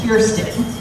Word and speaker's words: Kirsten: I've seen it spelled and pronounced variously, so once and for all, it's I before R, and the first syllable of my name rhymes with beer, so it's Kirsten.